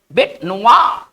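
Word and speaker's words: bête noire: इसको पढ़ेंगे क्या? बेट, बेट नुआ, बेट नुआ। ठीक है ना, इसका उच्चारण हम इस तरह से करेंगे, बेट नुआ।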